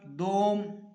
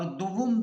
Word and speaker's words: دوم: یکم، دوم اور سوئم۔ تو اس کا تلفظ جو ہے وہ ایسے نہیں ہے، بلکہ اس کا صحیح تلفظ ہے یکم ایک کے معنی میں، اور دوم 2 کے معنی میں، اور سوم یعنی کہ 3 کے تیسرے کے